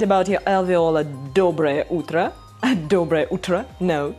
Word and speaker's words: доброе: Okay, so, доброе утро. Доброе. Доброе утро. Okay, so the stress goes to the first syllable.